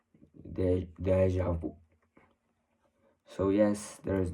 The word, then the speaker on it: déjà vu: little bit more, but the more correct pronunciation would be always the one that is more closest to the root of the word, déjà vu.